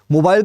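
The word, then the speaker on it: mobile: मोबाइल का मतलब होता है जो मूव कर सकता है, मूवेबल, राइट। यहां पे विदेशों में मोबाइल को मोबिल कहते हैं, मोबिल, मोबाइल यूज नहीं करते, इसका प्रोनाउंसिएशन मोबिल कहते हैं।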